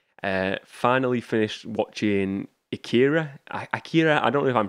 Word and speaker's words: Akira: finally finished watching akira akira i don't know if i'm pronouncing it right it sounds like in the movie they pronounce it acura i watched the english